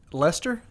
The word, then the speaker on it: Leicester: uh so if they finish like Lester that's how you say it yeah Lester Lester Leicester